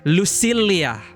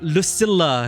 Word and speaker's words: Lucilla: Sorry, I keep having to consciously say Lucilla, because in my language, double L, usually we pronounce it as Lucilia. You know, Spanish, Lucilia. But they say Lucilla here.